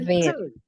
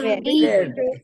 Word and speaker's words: verde: It's a syllable that is cut. It's the E is Verde. silent.